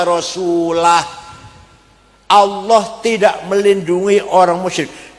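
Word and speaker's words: وَرَسُولُهُ: Ono wong maca Quran salah. Wa annallaha bari'um minal musyrikin wa rasulih. Allah orang melindungi, tidak melindungi orang musyrik dan tidak melindungi Rasulnya, Rasulullah. Salah. Yang benar bacanya wa annallaha bari'um minal musyrikin wa rasulah.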